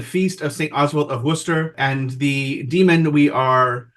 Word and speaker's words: Worcester: Oswald of Worcester in my heavily Americanized accent there. I know that hurt your ears out. No, that was pretty good. Okay. In comparing the pronunciations, it's just interesting. Worcester and Worcester.